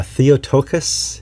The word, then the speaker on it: Theotokos: about the tenants of the Maran do uh theotokos is that am I pronounce it that right theot theot yes okay